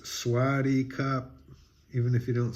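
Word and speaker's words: สวัสดีครับ: greeting you know if you're a man it's swaty cop even if you don't say it right which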